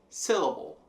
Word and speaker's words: syllable: Em inglês a gente tem syllable. Syllable. Também C vai ser a forte.